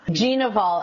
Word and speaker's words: Gnivol: G. Naval Events is how you say it.